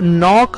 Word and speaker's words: know: सोचिए जरा कौन से ऐसे वर्ड्स हैं जिसमें के तो आता है लेकिन वो साइलेंट होता है, जैसे यहाँ पर नॉक हमने देखा जिसमें के शुरू में लिखा हुआ है लेकिन वो साइलेंट है, कौन से वर्ड्स हो सकते हैं?